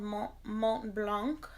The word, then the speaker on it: Mont Blanc: So this is called Mont Blanc. I think the T is silent.